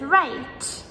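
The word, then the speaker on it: write: So for example, like answer, A-N-S-W-E-R, compared with right, W-R-I-T-E. So in right, the W comes in the beginning, and the word answer, it comes in the middle, and so on.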